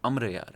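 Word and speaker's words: Amar Ayyar: सेट की film दूसरा हमारे यहां इस रीजन में उमरू उमरू कहते हैं जो एक्चुअल प्रोनाउंस एशन है वो अमर यार है ओके तो इस वजह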